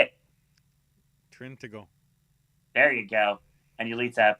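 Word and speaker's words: Trintignant: Spell it. Say it. Trintigo.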